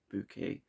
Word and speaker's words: Bucket: plays the Title Character that's actually called House of the bucket but she prefers to pronounce the surname bouquet and that's a great